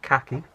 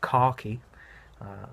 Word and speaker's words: khaki: while this off-white slightly khaki not cocky like someone keeps telling me I say it like